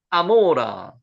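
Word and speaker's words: עמורה: 자, 고모라왕 비르사 삐르사 멜레크 아모라. 여기 고모라를 실제 발음은 지금 발음되는게 아모라로라로 발음되는 거는요. 왜 고모라라고 발음했는지 잘 모르겠지만 실제는 이렇습니다.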